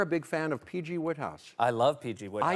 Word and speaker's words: Wodehouse: is before I was familiar with him I pronounced it wodehouse a Critic said and Mr Goldblum maybe he was trying to mispronounce it said wodehouse it's obviously Woodhouse I believe it's Woodhouse yeah since then I've